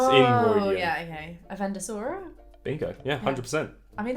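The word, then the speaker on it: Avendesora: Avendosora? Bingo. Yeah, 100%. I mean, that's easy to read. All right. How would you pronounce this one?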